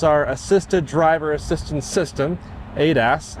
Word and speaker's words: ADAS: That is our assisted driver assistance system, ADAS, as it's usually pronounced.